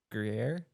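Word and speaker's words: Gruyère: And the biscuit was a Gruyere. Oh, Yeah. wow. I can't Gruyere.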